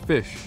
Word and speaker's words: Fisch: about the Costa fish they pronounced fish fish and you know what